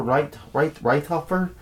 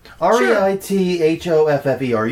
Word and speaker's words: Reithoffer: Is that the pronunciation we're after? Reithofer? It's Reithoffer. You do your own pronunciation.